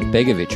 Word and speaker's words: Begovich: today we're going to be talking to begovich of anarchy pr welcome to film shapes such a good pronunciation of my last name thanks for having